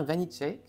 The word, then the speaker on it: Vanicek: qui est réalisé par Sébastien vanitake je crois que c'est comme ça qu'on prononce en tout cas c'est